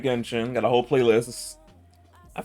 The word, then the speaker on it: Genshin: like Genshin. Got a whole playlist. I forgot how many like VODs of Genshin I got up there.